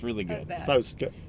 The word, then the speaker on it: Fauske: Fauske. Fjellska. Fjellska. Fauske. Fjellska. Felska? There's no L, it's Yeah, but why are you doing Yeah.